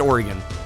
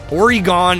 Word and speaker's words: Oregon: lived here since birth I've always said Oregon that's how you say it Oregon is wrong Half Price Books